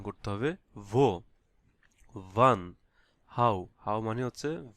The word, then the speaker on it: wie: ওইভাবে উচ্চারণ করতে হবে ভো। ভান, হাউ, হাউ মানে হচ্ছে ভি। এখানে আই ই হচ্ছে ইংলিশ দীর্ঘ ই। হ্যাঁ, দীর্ঘ ইর মতো উচ্চারণ হবে আই ই, ভি, ভি।